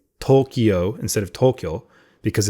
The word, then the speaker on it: Tokyo: But if it's, I could say Tokyo. I could say, or did I just say Tokyo? Tokyo. I could say Tokyo. Tokyo. Yeah, because in Japanese it's Tokyo.